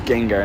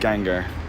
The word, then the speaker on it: Gengar: you have the Pokemon Gengar yeah is it Gengar or Gengar I think it's Gengar dude it's Gan yeah it is too it's Gengar not gangar yeah I've got a